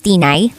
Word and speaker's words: Tinay: lang po Tinay Opo tama ba ako ng pagkakabigkas Tinay Yes po Ayan Kung pupwede lang